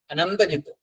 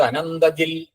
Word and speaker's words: അനന്തജിത്: അദൃശ്യോ വ്യക്തരൂപസ്ച സഹസ്രജിതനന്തജിത് ഈ മലയാളികൾ ചൊല്ലുമ്പോൾ അനന്തജിത്ത് എന്നുള്ളത് അനന്തജിത് ജിൽ എന്നൊക്കെ ആയി മാറുംട്ടോ സഹസ്രജിത് അനന്തജിൽ അങ്ങനെയൊക്കെ ഒക്കെ ആയി മാറാറുണ്ട്. അല്ലരും തെറ്റ് എന്നൊന്നും പറയുന്നില്ല. സംസ്കൃതത്തിൽ അധികം ഒത്ത് എന്നുള്ള ഉച്ചാരണം ആണെന്നേ ഉള്ളൂ.